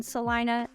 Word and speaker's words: Celina: a whole Vlog on Salina it's spelled Selena but we call it Celina I'm not real sure why but I have